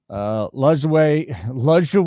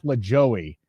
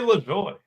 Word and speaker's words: LaJoie: This has guys like Nemechek, Briscoe, Lejouet. I just said Lejouet. It's not Nap Lajoie though. Rubio Dimes. How does Rubio Dimes mispronounce this? Corey LaJoie. LaJoie. Yeah, very nice.